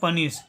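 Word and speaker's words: punish: यू का उच्चारण यहाँ पे अ करेंगे। एन का उच्चारण करेंगे न, ठीक है। आई का उच्चारण यहाँ पे करेंगे छोटी ई, ठीक है। और एस एच का उच्चारण होता है तलाबी सा। एस एच का उच्चारण होता है तलाबी सा। इसको पढ़ेंगे पनिश, इसका उच्चारण करेंगे पनिश।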